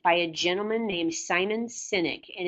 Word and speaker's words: Sinek: I highly recommend by a gentleman named simon Sinek and it's spelled SI n EK that's n is in